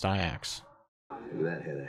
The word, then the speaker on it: Ajax: called I act yeah I thought it was Ajax no where he won this maybe like the